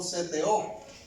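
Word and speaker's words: ζητέω: es una palabrita que se escribe o se pronuncia como seteo.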